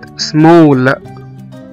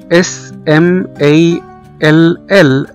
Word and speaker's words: small: مثلا كمان زي كلمة small، S M A L L، small صغير، هنا نطقنا حرف الـ A كأنه O.